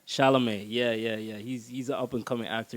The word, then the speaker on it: Chalamet: Timothy Chalamet, did I pronounce his name right? Chalamet, yeah.